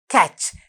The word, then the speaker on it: catch: Catch. I told you we have a silent T here. Catch.